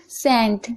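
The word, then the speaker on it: scent: सेंट। सेंट। यहां पर आप देख रहे हैं एस के बाद सी है तो सी साइलेंट है।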